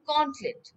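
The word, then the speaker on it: gauntlet: two except দা গন্টলেট উচ্চারণটা হবে গন্টলেট ঠিক আছে মানে গ্লাভ এটা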